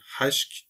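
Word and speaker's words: hişk: Buradaki kurumak anlamına gelen haşk, gırtlaktan Arapçadaki H harfi gibi telaffuz edilir.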